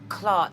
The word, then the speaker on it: clart: pad gang I didn't say that that's disgusting clar c l a r t is a different pronunciation young girl get it right and Clark